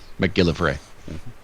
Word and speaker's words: McGillivray: out phonetically for me mac Gill live Ray McGillivray we could live free though it's not it's more of a read than a ray but yeah Harry and